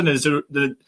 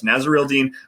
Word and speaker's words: Naziruddin: Hamza Naziruddin is how you say his name. Yes, Naziruddin, the safety from Florida State.